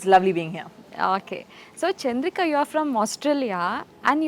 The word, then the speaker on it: Chandrika: like What's your name is it chandria I'm like no it's chandria you have to say it properly chandria RI you know